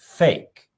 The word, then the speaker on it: PHEIC: PHEIC in English, it's pronounced fake.